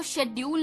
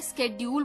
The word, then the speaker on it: schedule: पहली बात तो जो स्केड्यूल है वो शेड्यूल नहीं बोलते, स्केड्यूल बोलते हैं। क्लियर? प्रोनाउंसिएशन स्केड्यूल होती है SCHEDULED, स्केड्यूल्ड। तो स्केड्यूल्ड ऑन नहीं आएगा, स्केड्यूल्ड फॉर आता है हमेशा।